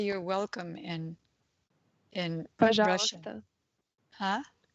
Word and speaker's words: Пожалуйста: Пожалуйста. Huh? Пожалуйста.